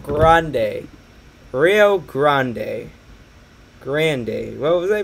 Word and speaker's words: Rio Grande: they're gonna get so mad at me it's pronounced grande rio grande day what was i pronounce it as grande jesus